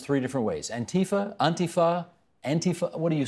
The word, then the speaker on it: Antifa: Antifa, Antifa, Antifa. What do you say? The Europeans say Antifa, but language evolves. People are saying Antifa.